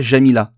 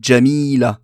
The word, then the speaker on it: Djamila: c'est le jim carrey pour djamila c'est pas jamila c'est djamila avec un jim et non pas jamila donc le biologie arabes